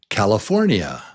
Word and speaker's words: California: What's the strong syllable? Yeah, it's syllable number 3. But 4 is the strong one.